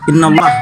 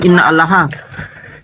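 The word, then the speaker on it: إن الله: Innallah innallah. Woi innallah bukan inna alaha parah. Innallaha yubirukiimatim minhu. Itu cara bacanya begitu.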